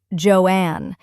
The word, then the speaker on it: Joan: Joan Crawford was chosen. She reportedly didn't love the name at first. She thought Crawford sounded like crawfish, and she preferred Joan to be pronounced Joanne, but she embraced it completely.